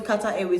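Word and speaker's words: Qatar: when I got to Kat a mind I didn't have issues in instan right I didn't have issues in Cyprus when I got to Kata not Kat a when I went to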